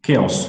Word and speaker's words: chaos: third one Ciao's chaos it's not shows it is chaos okay okay so fine